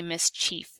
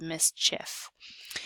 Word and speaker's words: mischief: a long e sound it does not say mischeif it says mischief and then one bonus